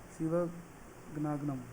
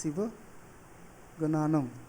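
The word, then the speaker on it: Sivagnanam: Chief justice कौन है, टी.एस. शिवगनागनम। तो प्रोनाउंसिएशन में दिक्कत हो रही है ना, टी.एस. शिवगनानम, राइट।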